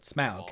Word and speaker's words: Smaug: A Schmog? Or how do you pronounce his name? Smaug, and there's Smog.